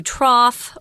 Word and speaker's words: trough: English but there's actually the gh at the end is pronounced with an F sound so it's a trough typically when we use